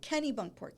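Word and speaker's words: Kennebunkport: Like Kenny Bunkport.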